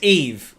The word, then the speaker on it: Eve: four I'm sorry it's Eve I apologize it's not Eva it's eve very sorry about that